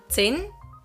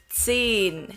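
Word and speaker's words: zehn: zed don't forget it whenever there is an h after a vowel in german any vowel the vowel becomes long so it's not sin here it's seen good job now you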